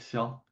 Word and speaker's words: Xiao: Yeah, Eric Shell. Eric Shell. I can't pronounce it. It's it's X I A O.